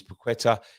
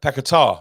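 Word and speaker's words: Paquetá: if we win his paquetta if we win uh pekatar I think it is um women we've been pronouncing it wrong all season if we win um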